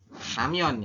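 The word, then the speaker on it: 라면: Ini dibacanya adalah karena R-nya di depan berarti ramyon ya. Ramyon. Seperti ini, ramyon.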